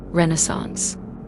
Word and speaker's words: Renaissance: Harrison said, interrupting Sophie mid-sentence, the proper pronunciation emphasizes the second syllable. Renaissance.